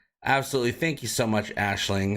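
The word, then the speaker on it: Aisling: As promised, pronunciation is Ashling.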